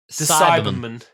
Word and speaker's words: Cyberman: I love I am obsessed with the pronunciation of Galifrey and Cyberman. Cyberman. It's like a Doberman.